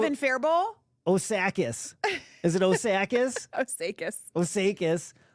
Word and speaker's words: Osakis: Is it Osakis? Osakis. Osakis. Cloquet. Cloquet. It should be cloquet rhymes with croquet.